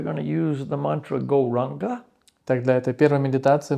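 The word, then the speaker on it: Gauranga: So for this opening meditation, we're going to use the mantra Goranga. Так, для этой первой медитации мы будем использовать мантру Горанга. Divided into 4 syllables, Go, Ra, Anga.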